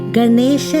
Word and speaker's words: Ganesha: effects of the words Ganesha is said with a retroflex n so the tongue rolls back like gara's trunks celebrating this new now